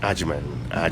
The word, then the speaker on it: Agyemang: And the pronunciation slowly. Agyemang.